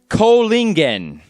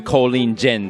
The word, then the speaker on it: Kohlingen: Kohlingen, as opposed to Kohlingen that I expect some people have said.